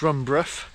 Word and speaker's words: Brough: So I'm just leaving the small village of Brough, that's how it's pronounced, and they have a 14th century peel tower there in the village, known locally as Brough Castle.